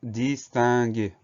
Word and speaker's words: distinguer: Et enfin, troisième syllabe, gué. Pour avoir le son G, on va avoir un G et un U. Le U est obligatoire, sinon ça fait J.